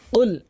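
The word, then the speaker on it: قُلْ: তো আসুন, এখানে উল বলতে হবে, উল জিব্বার গোড়া উপরে তালুতে লাগাতে হবে, কফ কফ এভাবে ধাক্কা দিয়ে উচ্চারণ করতে হবে। উল, কুল বলবেন না কখনোই, কুল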